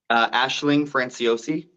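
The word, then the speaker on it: Aisling Franciosi: FR Ashling what was it I'm sorry Sean Ashling franciosi thank you what what Sean said she is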